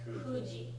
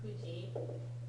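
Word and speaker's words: 九時: Okay, so first of all, the pronunciation for 9 o'clock is special. Kuji, yes. Kuji.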